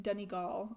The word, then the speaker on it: Donegal: By FYI, it's pronounced more like Donegal.